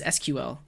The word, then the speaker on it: SQL: Andrew says sequel versus SQL I usually just say sequel because it's faster and sequel two syllables SQL three syllables yeah I do not